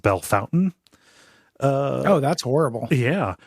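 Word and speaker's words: Bellefontaine: called it's spelled b Fontaine but it's it's pronounced B Fountain uh oh that's horrible yeah we have a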